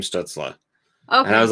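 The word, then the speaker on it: Stützle: that pronunciation everybody does it was stutzel and then all of a sudden it became stutzla okay and i was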